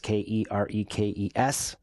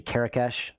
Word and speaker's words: Kerekes: You can find me on LinkedIn, Kerekes, Kerekes. It's actually Kerekesh. It's like the H is silent. It's so silent it's not even there.